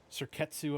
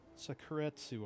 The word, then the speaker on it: Sakuretsu: Cettu armor. No, that's not how you pronounce that. Sakuretsu armor, cemetery bomb, mystical space